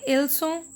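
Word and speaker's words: leçons: LA, Leçon, they are masculine. Leçon, they are masculine. Here we are not pronouncing S. So it is not Leçon, Leçon.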